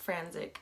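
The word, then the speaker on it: Frantzich: then he was like it's pronounced frantic and I was like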